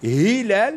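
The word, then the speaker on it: هلال: Donc, par exemple, quand on dit Hilal, c'est un Ha.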